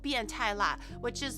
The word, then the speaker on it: 变态: you can say biantai as in like that's really weird or that's really wild, or you can be like biantai ni, or like you pervert.